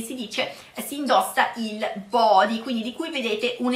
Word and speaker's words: body: Terza parola di oggi è body, quindi vedete qui la pronuncia anche di questa parola, non lo pronunciamo all'inglese, lo pronunciamo all'italiana, body, altrimenti dovremmo pronunciarlo body, giusto? Quindi body.